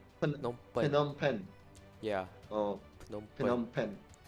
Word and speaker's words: Phnom Penh: Teach me how to Phnom, pronounce Phnom Penh. Phnom Phnom Penh, Phen- Phnom Penh.